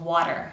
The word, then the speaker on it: water: This place in the mouth, that's exactly where I'm going to produce the tapped t for the final syllable of water.